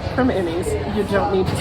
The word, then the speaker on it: Primanti: you say Perman Brothers It's almost like p r instead of p r i but you definitely don't